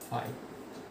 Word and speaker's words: phi: Defined by, denoted by ফাই, এবং যাকে এরকম ফাই দ্বারা ডিনোট করে নাল সেট, তাকে যে সিম্বলের সাথে প্রকাশ করা হয় এটা ফাই।